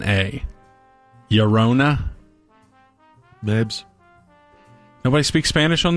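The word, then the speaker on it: Llorona: a band called Lona Yona when has two LLS in the front of it like that's Yano estado right so this is l l o r o n a Yona Ms nobody speaks Spanish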